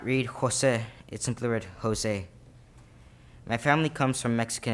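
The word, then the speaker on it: José: as I stated before taking the accent off my e is the equivalent to taking part of the meaning of my name away also it changes the pronunciation of my name taking away the emphasis that should be given when actually swinging Jose in conclusion I believe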